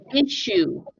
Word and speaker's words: issue: uh repeat after me issue issue issue issue okay it kind of sounds like tissue right where you blow when you have a cold but the ss is pronounced like a sh issue issue okay and